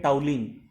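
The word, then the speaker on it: toluene: देखिए स्पेलिंग तो है टोलुइन लेकिन बोलते हैं टाउलिन।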